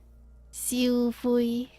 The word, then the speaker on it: Siu Fui: Oh, I think it's usually like a faster sound. Not like extended. Siu fui.